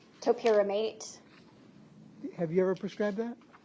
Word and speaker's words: topiramate: Was she prescribed torpiramate? Yes. How do you say that? Topiramate.